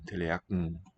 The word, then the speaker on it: Tallerken: The R gets vocalized into ah, like in German. The N suffix loses the vowel, fuses onto the preceding velar stop g, and assimilates. It becomes teleaken, which also is shared with German. And the S showing up there, tsa, is just a slow release of the tongue tip from the T position.